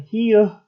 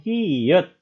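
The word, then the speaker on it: 히읗: Karena ada H-nya di pacim, ya, konsonan akhir, maka dibacanya bukan hieuh, melainkan hiyet. H-nya, karena di sini syaratnya, jadi dibaca huruf T. Maka di akhir pun dibaca menjadi T. Jadi hiyet, bukan hieuh.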